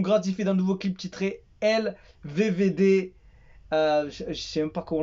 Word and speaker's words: Elevevede: Mais en fait, ils le prononcent pas le D ou le 2 à la fin. Ils disent LVV ou LVV et tu entends limite le D à la fin.